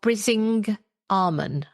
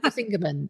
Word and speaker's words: Brisingamen: the Weird Stone of Brising Armon. Because you don't know how to say it. No, I don't. I still don't. It's the Weird Stone of Brisingamen, I think is how you actually say it.